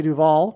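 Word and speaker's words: Duvall: But Simon famously broke up with Shelley Duval, which also rhymes with Hall, at the airport before she got onto a plane to the UK to film the movie The Shining.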